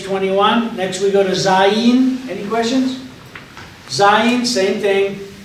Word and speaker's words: Zayin: Zayin is in kind of two syllables, Za, and then Yin. It's not Zain, it's Za-Yin.